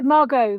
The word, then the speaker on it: Margot: So I confused, yes, because it's a silent T on Margot, but not on the surname.